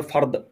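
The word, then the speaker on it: فرض: দটা কিন্তু জিম না যে উচ্চারণটা বাংলাদেশীরা বলে ফরজ ওটা কিন্তু শেষে জিমের উচ্চারণ হচ্ছে তো সেটা জিম না সেটা হচ্ছে দ্বের উচ্চারণ সাধারণত ই দিয়ে হতে পারে দ দিয়ে ফরদ বা ফরদ ফরজ না কিন্তু ফরদ ফরদ যদি হয় তাহলে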